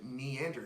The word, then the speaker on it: Neander: with your host, Neander. As always, go ahead and find us on Twitter. That's me. I'm at Neander, spelled Neander with an N like Neanderthal.